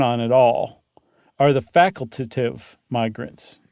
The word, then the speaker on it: facultative: The ones that you can't count on at all are the facultative migrants. And I said it right. I didn't just add an extra syllable.